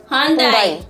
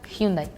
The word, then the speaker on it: Hyundai: star at the end, it's muted. So that's why yundai hyundai. But do you guys know the reason why it's pronounced dye? Because back in the days, Japanese cars were considered to be like really high quality. So in order for Korea to market the cars, well, they would make it with a Japanese pronunciation so that people would